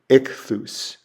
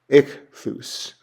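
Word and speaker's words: ἰχθύς: So the example I have there is a short I sound. It's the word for fish, and it's ichthus, ichthus.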